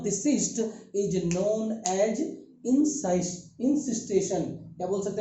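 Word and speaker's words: encystation: Cyst is known as इंसिस्टेशन। क्या बोल सकते हैं बेटा? इंसिस्टेशन। क्या बोलेंगे? इंसिस्टेशन। प्रोनाउंसिएशन कैसे भी होगा? इंसाइसेशन भी बोल सकते हैं। चूंकि हमने सिस्ट बोला तो इंसिस्टेशन बोले तो चलेगा।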